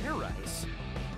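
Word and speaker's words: Fairize: Do it again, and this time make sure you pronounce the Z.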